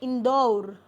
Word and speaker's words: इंदौर: इंदौर शब्द में एक मात्रा नहीं होती बल्कि औ होता है। तो इसको हम जब उच्चारित करेंगे तो कहेंगे इंदौर। तो इस प्रकार से हम अगर शुद्ध उच्चारण करेंगे शब्दों का तो हम इंदौर नहीं कहेंगे। क्या कहेंगे? इंदौर।